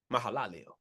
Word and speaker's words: Mahalalel: So here comes Mahalalel. Mahalalel. I keep forgetting that extra syllable.